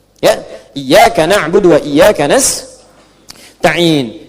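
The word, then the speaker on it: نستعين: Iyaka na'budu wa iyaka nastain'in. Ada yang baca pakai kasrah. Nista'in ya. Nistain ini bacaannya dari Bani Asad, Rabiah, dan Bani Tamim. Tapi kita baca harus menggunakan fathah kalau untuk kita ya.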